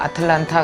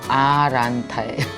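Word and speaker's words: Atlanta: 근데 내가 아틀란타 그랬더니 그게 음절이 3개밖에 안 되는데요. 아틀란타가 아니라 아란타예요.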